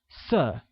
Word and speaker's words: 色: Color, pronounced with a falling tone, becomes 色.